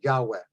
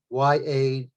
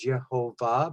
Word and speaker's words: Yahweh: In biblical studies, it is basically referred to now in modern times as Yahweh, Y-A-H-W-E-H, Yahweh, because even though it was mispronounced by some as Yehovah, because you see the